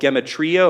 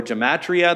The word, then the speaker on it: gematria: Another idea that came around involves something called gematria or gematria. There's a couple of ways to pronounce that word.